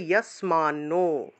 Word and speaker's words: যস্মান্নো: তারপরে দেখুন 15 নম্বর, যস্মান্নো, তার উচ্চারণ হবে ইয়াসমান্নো, ইয়াসমান্নো দ্বি, দয়ের নিচে বহুলা থাকায় দুয় উচ্চারণ।